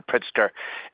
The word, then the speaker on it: Pritzker: And like it seems like I apologize if I mispronounce the name, Governor Pritzker, is is very big in quantum computing.